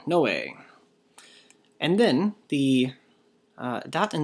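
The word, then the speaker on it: Νῶε: Hopefully you said this one, Noe. Nu omega epsilon, Noe.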